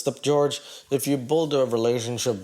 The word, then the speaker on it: Jorge: You know, I don't even know what to say, George. Like, I'm trying to be Team George here. Okay, but you got a name that starts with a J and pronounced with a G.